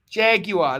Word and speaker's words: jaguar: the jaguar the jaguar jaguar that's how they say it in britannia jaguar it's a silent r uh this could go